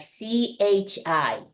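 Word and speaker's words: ち: with a second one Chi you may want to pronounce it like t i t but we really pronounce it like CH h i CH and then also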